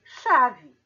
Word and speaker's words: chave: o fonema e letra aqui chave eu tenho cinco letras e quatro fonemas porque eu não tenho o fonema do ch eu tenho o fonema o som de x tá certo aqui tem